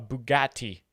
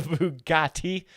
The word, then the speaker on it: Bugatti: A Bugatti. A Bugatti. And that's how you pronounce Bugatti.